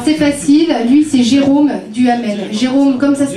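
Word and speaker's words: Duhamel: ouais oua alors c'est facile lui c'est Jérôme duamel Jérôme comme ça se prononce et duamel avec H a M e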